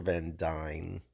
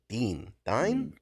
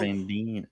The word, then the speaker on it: Van Dien: gotta reach out to Casper Van Dyne. Dean. God, I always say that wrong. I always say that wrong. Van Dien.